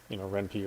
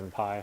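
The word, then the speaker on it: Ren'Py: Or RenPy, I guess is how you're supposed to pronounce it, since it's Python.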